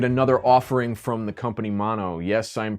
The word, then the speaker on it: Maono: to look at another offering from the company mono yes I'm pronouncing that correctly according my contact over there